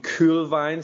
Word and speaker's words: Kuhlwein: Kuhlwein, so you hear it in the original pronunciation just once in this conversation.